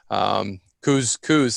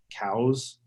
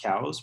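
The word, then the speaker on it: Coues: And in fact, the correct pronunciation is cows in Arizona. It's named after a biologist, as is typical. Ah, And it's technically pronounced cows, but it's been adopted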